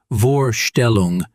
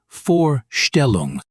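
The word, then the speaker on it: Vorstellung: But usually V in German sounds like the English F. So W is V and V is F mostly. Yes. Max, that's chaos. That's German. Okay, walk me through it please. The word vogal bird not vio gel it's foggial the word vorelong presentation introduction not vorelong with a v like very it's forelong forestel oh wow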